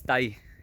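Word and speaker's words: Tày: Well, correct pronunciation is Tay people, and they're like, if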